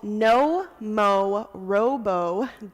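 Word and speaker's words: Nomorobo: bottom right-hand corner of the handout it's called no mo Robo comm it's spelled exactly how it sounds n o mo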